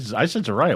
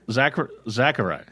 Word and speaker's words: Zachary: I said Zariah. What the hell am I talking about? I know. Zachary. Zachary. Like Zachary. the boy, only better.